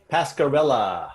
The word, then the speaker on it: Pascarella: Pascarella. Pascarella.